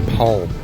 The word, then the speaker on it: palm: to hit that out I like to say palm like to say palm trees and just hit that L because that's an important now some people say Tom but it's not palm it's spelt palm Gary Oh Stan